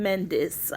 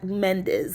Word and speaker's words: Mendes: but now with Sean Mendes uh Mendes sorry and it's spelled me n d s not Z I've always wondered what